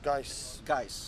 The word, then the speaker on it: Guice: Am I pronouncing it correctly? Guice. Yeah. So the main man, SWE versus Guice.